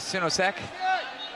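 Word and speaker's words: Sinosic: It's a little unconventional, not so unconventional, but while that match was going on the other mat was Elvis Sinosek, which is how you say his name.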